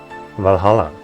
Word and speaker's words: VA-11 Hall-A: Valhalla. I'm not gonna pronounce it any other way because that sounds like a pain in the ass.